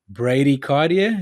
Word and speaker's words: bradycardia: At what resting heart rate does a doctor diagnose bradycardia? Is that how you say it? It is how you say it. Bradycardia.